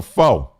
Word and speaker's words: pho: Um I love pho. It ain't pho. I tell myself that all the time. Cuz it's spelled p h o and sometime I say, I want some pho.